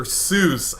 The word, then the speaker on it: Seuss: are typing they're typing it's pronounced then they have to type it out phonetically like I have time to understand that it's pronounced Sy Yoo with there's some Accents in there Hy and you know for those people who think that Seuss is a two- syllable word like I mean I